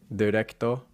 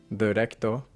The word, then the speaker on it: directo: That dir is a thing in English that really carries over, and people think they're saying directo, directo. And they're not saying directo, they're saying directo, directo.